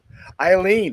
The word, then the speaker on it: Aylin: here with aylin eileen i wow way off eileen that's an interesting name to spell that i usually see it with like an